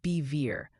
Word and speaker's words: Bevier: Bevier Mo is pronounced bever like bet minus the T.